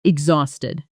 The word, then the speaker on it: exhausted: The stress here lands on the second syllable, and that H is silent, which surprises a lot of learners who try to pronounce it.